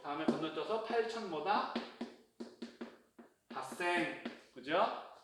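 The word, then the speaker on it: 八千: 여기 너는 6 다음에 건너뛰어서 8000보다 핫생. 그죠? 그 다음에 10생 없죠? 만이죠. 만 단위. 그러니까 없어요. 6, 8은 뭐다? 록생, 핫생.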